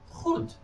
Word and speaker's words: goed: But in Dutch, the G is pronounced differently. The G in Dutch is pronounced as H. So this in Dutch is goed.